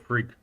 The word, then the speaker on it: Frigg: It's the Temple of Frigg, or Freya. So The second G is silent.